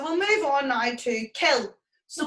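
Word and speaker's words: cill: in irish you'll see kill c i l l and you'll see kill c o i l l there's a slight difference in pronunciation kill as in the english word kill and c-o-i-l-l is more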